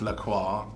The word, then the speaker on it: La Croix: It's pronounced La Croix.